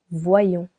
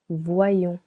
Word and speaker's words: voyons: il on voit nous voyons. Nous voyons here we want to make it two syllables. Vois and yon. To do so we need to change letter I to letter Y. Nous voyons.